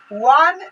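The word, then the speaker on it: one: है, वन है तो वन को अगर हिंदी में लिखेंगे तो ये आएगा, शब्द में लिखते हैं तो आता है वन, वन यानी वो नो वन, तो वह से ओ है। ठीक है, यानी वॉवेल तो है, वॉवेल तो है, लेकिन इसका हिंदी उच्चारण वो आ रहा है जो कंसोनेंट है, यानी व्यंजन वर्ण है, इसके कारण यहाँ पे ए लगा है।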